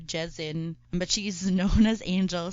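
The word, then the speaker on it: Kyal Sin: one on march 3 chaucin or jason i've i've heard like different pronunciations two pronunciation you have different pronunciations so it's either ciao sin or jazzin but she's known as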